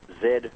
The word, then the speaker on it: Z: it was actually pronounced Zed not Z as it is in the United States uh and jamanta points out that said Zed rhymes with dead and that kind of